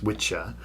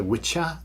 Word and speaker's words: wicca: At this time the English language had gender and so there were two words the masculine witcher which is wicca pronounced witcher and the feminine wic pronounced witch. So witcher and witch.